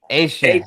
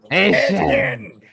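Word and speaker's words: Etienne: The new pronunciation, yes, not Devon A-Chain. This is Travis A-Chain. ATN. Yeah, or ATN for those. I put it on the ticker. I know. ATN at 17. Yeah, for sure. A-Chain. Yes, the Cajun pronunciation, the Cajun French way.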